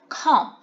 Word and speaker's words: comb: Comb, comb. Here we do not pronounce the B at the end of the word. It is a silent letter, so we say comb, comb.